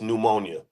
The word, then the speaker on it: pneumonia: have to spell it it starts with a P it's pneumonia I know some it's hard